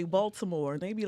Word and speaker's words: Baltimore: And what's So- crazy, I say Baltimore, and they be like, "Are you from here?" Yeah. I'm like, yeah, because it's pronounced Baltimore. I You gotta know, but- pronounce the T.